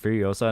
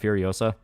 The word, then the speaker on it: Furiosa: It's pronounced Furiosa, not Furiosa.